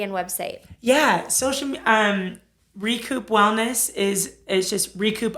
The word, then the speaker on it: Rekup: Utah you need to go to recoup and to in South Jordan r-e-k-u-p it's spelled a little different and what's after our